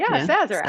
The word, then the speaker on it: Sazerac: So that's how you pronounce it, right? Yes. Sazerac.